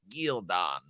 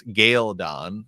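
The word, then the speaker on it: Ghealdan: the show now right in the book it's gildon that's the way uh michael kramer you know says it but it's gayle dawn uh in the show which was a no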